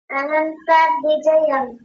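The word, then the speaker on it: अनन्तविजयम्: अनंतम थोड़ी है। केवल अनंत अनंत विजयं ऐसा बोलिए। अनंत विजयम।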